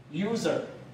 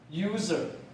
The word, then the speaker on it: user: 好，下面这念长 u， use，这念 z， user， user。